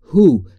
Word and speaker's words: who: بگیرید در مورد تلفظ هو در انگلیسی هم باید دقت بفرمایید که دبلیو به طور کلی در این کلمه ناخواناست یعنی تو گویی که اصلا خوانده نمیشه و کاملاً شما میگید هو یعنی با اچ شروع